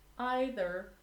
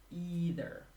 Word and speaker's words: either: As for the pronunciation, I forgot to mention, you can pronounce either or either. Neither or neither.